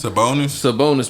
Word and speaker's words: Sabonis: So I can't even pronounce this man's last name. It's Sabonis, my man.